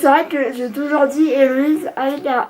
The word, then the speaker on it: Héloïse: C'est-à-dire que moi je m'appelle Héloïse, donc avec un H, pas comme dans la chanson de Claude François, mais c'est très rare qu'on sache l'écrire correctement et qu'on le prononce aussi correctement. Parce que j'ai entendu des Héloïse, Louise, Élodie, enfin tous les prénoms inimaginables, sauf mon vrai prénom.